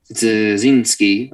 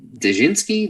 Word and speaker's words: Dzerzhinsky: Dzerzhinsky, even though I know him, I never knew how to pronounce his name right. Is it Dzerzhinsky?